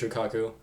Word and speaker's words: Shukaku: Shukaku, the One Tails, I might pronounce the name wrong, but I'm pretty sure it's Shukaku.